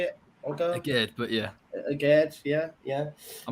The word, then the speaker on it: Djed: Djed, but yeah.